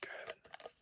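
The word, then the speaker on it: Girvan: Caroline Gervin. Gervin is spelled G-I-R-V-A-N.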